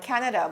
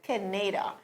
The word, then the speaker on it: Canada: to pronounce the word canada but instead of saying canada she wanted so much to sound like barbara that she said kineda it was really such